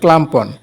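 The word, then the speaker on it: clamp-on: যে একটা ক্লামপন মিটার এটাকে হয়তো অনেকেই ক্লিপ অন মিটার বলে আসলে এটা সঠিক উচ্চারণ হলো ক্লামম্পন ক্লামম্পন মিটার তো এই মিটারটা আমার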